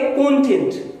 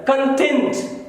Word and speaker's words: content: तो उसे स्पेलिंग देखिए CONTENT, उसे पढ़ेंगे कंटेंट। अब यही अगर एडजेक्टिव हो गया तो उसका प्रोनाउंसिएशन बदला है, कंटेंट। मैं कहूं आई एम कंटेंट with my life, तो आई एम सेटिस्फाइड। तो अगर देखो अगर ये नाउन है तो उसका प्रोनाउंसिएशन भी अलग है और मीनिंग भी नेचुरली अलग है।